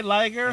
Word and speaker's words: Liger: Hey, Liger, who rhymes with tiger, welcome.